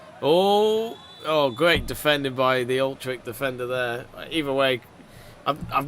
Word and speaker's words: Utrecht: Thank you, Zidtrick, saying pretty much tell me how to pronounce Utrecht instead of Old Trick. Old Trek, Utrecht.